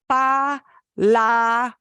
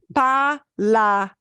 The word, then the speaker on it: palabra: Palabra ends in an A. And here are how we break up the syllables. Palabra. Those are the syllables.